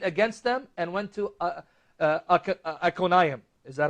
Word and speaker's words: Iconium: And they shook off the dust from their feet against them and went to Iconium. Is that how you pronounce it? Iconium, yeah.